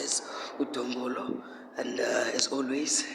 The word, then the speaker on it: Dombolo: That's pronounced as Dombolo.